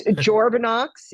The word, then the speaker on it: Journavx: It's Journex.